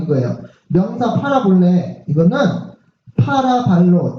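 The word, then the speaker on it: παραβολή: 파라볼레.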